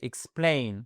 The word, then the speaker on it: explain: Mais la fin du X, en fait, c'est le début de votre seconde syllabe, et c'est là, où c'est accentué. Explain, all right?